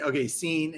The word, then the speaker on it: Cine: Cine is pronounced Cine, and he's the safety from Georgia.